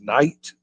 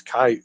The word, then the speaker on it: Kite: Jason Kite is how they, but I think maybe it was Knight. It's no N there, so it's Kite with a Kight.